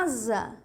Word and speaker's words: asa: é assim ó a escreve-se com s mas se pronuncia Z Tá certo zero zero